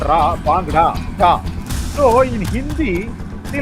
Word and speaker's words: Bangra: Sahil, remember Arshit, he came into our ears and he said, "I am Sahil Bangra, not Bangra, not Ra, Bangra."